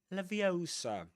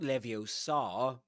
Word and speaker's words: Leviosa: Wardum leviosa, not leviosa. Remember levitate drop.